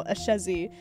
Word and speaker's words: Ashezi: he's just like thank you like you know a chezzy he's the one that said a chezzy and